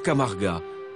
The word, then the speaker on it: Camarga: lève sur la Camargue en occitant cela se prononce camarga un marécage de 140000